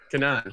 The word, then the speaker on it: Kanan: Is it pronounced Kanan? Yeah. Kanan.